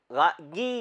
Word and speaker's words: Guy: 150-200 सालों के दरमियान गी डे Maupassant, his full name is गी. It's अंग्रेजी में GUY को गाय बोलते हैं, फ्रेंच में गी बोलते हैं. So it's गी de Maupassant. That's his actual pronunciation.